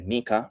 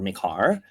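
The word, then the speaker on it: MiCAR: and and and and M car or my car would be markets in crypto assets regulation so you could call it uh the maika regulation or mikar um it's it's is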